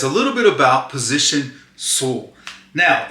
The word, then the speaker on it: SUL: My name is and I'm here to talk to you guys a little bit about position soul. Now it's spelled sul if you guys didn't know.